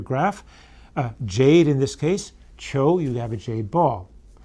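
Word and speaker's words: 求: Contemporary version of this would be on the right, top right, pronounced qiu.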